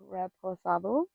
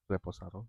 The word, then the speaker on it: reposado: God forgive me if I don't pronounce this correctly, but we drank Reposu. Reposado.